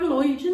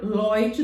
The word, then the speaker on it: Lloyd: no Oi só que o fato de não ter acento não quer dizer que você vai vai falar Loide não você vai falar Lloyd do mesmo jeito na minha opinião bem